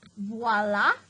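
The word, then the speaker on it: voilà: the little side note voila is french you pronounce it voila it means behold or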